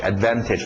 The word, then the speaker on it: advantage: D não falo D Advantage Advantage pronúncia rápida tira o t Advantage post bate com